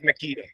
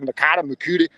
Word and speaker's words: Meketa: It's always Meketa. And if you know me, you know how to say it. Not unless you're from the pathetic Northwest, and you call it Meketa, Mekata.